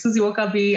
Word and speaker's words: Suzie Wokabi: sure okay so yes you said it right um my name is susie okabe i'm the founder of